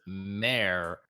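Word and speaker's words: MÄR: So it's pronounced mare, but it's written like MAR, and the A has that 2 like dots above it.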